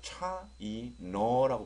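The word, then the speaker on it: China: 그래서 보통 우리는 차이나 그러잖아요. 근데 실제는 뭐가 차이나는지는 잘 모르겠고요. 여기 발음께 보면 어 발음이 나와 있어요. 그래서 차이너라고 발음하셔야 됩니다. 차이너 이렇게요.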